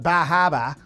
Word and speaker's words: Bar Harbor: flew up to um Bar Harbor Maine or as the locals call it bahaba uh that's how you say it there and when we got